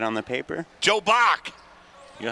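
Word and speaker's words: Bock: Joe Bach. You know how to spell that?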